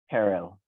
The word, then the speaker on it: Herrell: Our own Sergeant at Arms, Herrell, followed by, please, what's the correct pronunciation, sir? Harrell.